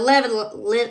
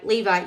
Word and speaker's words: Levi: he said what about your brother Aaron the level Levi Levi yeah there we go said it right I